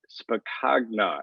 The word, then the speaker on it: Spacagna: rotarian or on to our next rotarian pete spacna if i pronounce that correctly why don't i start with